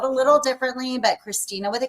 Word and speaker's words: Kristina: social media you can see that my name is spelled a little differently but Christina with a K b o u t